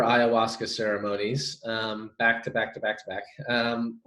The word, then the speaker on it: ayahuasca: It's ayahuasca, is that how you say it?